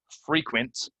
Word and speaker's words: frequent: for whatever reason um they want to pronounce um them a short ease but the really long ease right so this is frequent frequently frequency frequent frequently